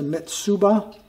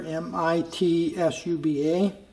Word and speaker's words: Mitsuba: a couple other things i think i might have originally mispronounced the name brand name that's a mitsuba if you can see that there m-i-t-s-u-b-a mitsuba and this is not